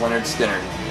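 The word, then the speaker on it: Lynyrd Skynyrd: Perfect for this time of year, pronounced Leonard Skinner.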